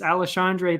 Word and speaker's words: Alexandre: say the first name it's either alejandre or alexandre i can't remember i know it was something unexpected for us up north here it's aleshandre pantoja and brandon royval we've